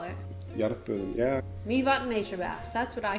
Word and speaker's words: Mývatn: Okay, this one's fun because, this one people don't know how to pronounce either. Mývatn.